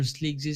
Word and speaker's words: Sleekzy: That was a quick move by Fanatic Sports, and I see it named as Sleekzy. Yeah, Sleekzys or Sleekzy 7. But I should pronounce it as Sleekzy.